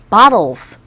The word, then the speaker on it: bottles: bottles. 무슨 뜻? 병이요. 네. 자, 근데 발음이 왜 bottle이 아니라 bottle? 그렇죠. 모음 사이에 T음 자체가 아래 가까운 소리에 들리기 때문에 지겹게 많이 나오죠.